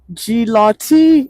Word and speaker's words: Gilotti: Gilotti is how I pronounce it.